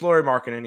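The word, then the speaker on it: Lauri Markkanen: It's Laurie Markkinen, yeah.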